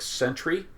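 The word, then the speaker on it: Scentry: There's also a product called Garlic Sentry, and Sentry is spelled S-C-E-N-T-R-Y.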